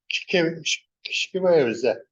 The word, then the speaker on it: Kshkiwewzi: You're actually starting with a silent K with your tongue.